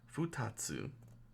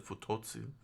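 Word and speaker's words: ふたつ: funny uh this is futatsu all right I've been mispronouncing I was pronouncing the futotsu uh it's uh futatsu Fu Tatsu oh thank you for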